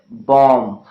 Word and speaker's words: bomb: letter B okay well there are many words in which be is not pronounced letter B means the sound bird is not pronounced for example if you talk about the sounds lamb comm numb okay link and climb okay bomb and there are so